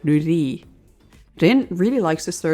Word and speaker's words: nurui: Here, he calls Kaiser his favorite insult, tepid, or in Japanese, nurui, but he just pronounces it like nuri.